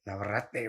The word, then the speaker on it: Navarrete: How do you pronounce it, bro? Navarrete, way.